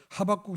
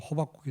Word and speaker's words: 하박국: 하박국 선지자, 구약의 하박국 선지자는 여러분 발음 잘못하면 호박국이 되는데요. 어제 그제 호박국을 먹었는데 이제 호박국이 아니라 하박국입니다.